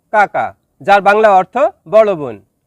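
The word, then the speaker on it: kakak: Number 3, কাকা, যার বাংলা অর্থ বড় বোন। শব্দটি লেখার ক্ষেত্রে লেখা হয় কাকাক, তবে এর সঠিক উচ্চারণ হবে কাকা।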